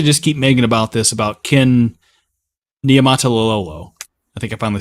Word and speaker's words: Niumatalolo: And it's not to just keep making about Ken Niumatalolo. I think I finally said it right again. You said it. That was perfect. Niumatalolo.